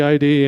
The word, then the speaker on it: id: I did "We're in demand" as our slogan, and I kind of made everybody think, oh, it must be ID, and there you go.